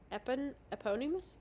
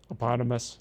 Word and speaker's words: eponymous: But it's a moot point because Jack name checks the eponymous? How do you say that? That was pretty close. Eponymous. Eponymous, okay. Yeah, think like hippopotamus.